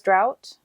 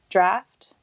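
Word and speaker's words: draught: And apparently, I've been pronouncing it as drought, but it's apparently draft. These potions that they're drinking is how you pronounce it, draft. So we're sorry if we said drought, or if I continue to say drought, it's draft.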